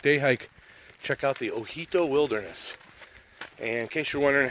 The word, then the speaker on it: Ojito: in case you're wondering how to spell that it's actually Oh J I T oh so it looks like OG toe but the J esperance like an H so it so he told wilderness so check it